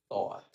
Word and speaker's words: thought: Eh, por eso como dice dice como I thought I thought.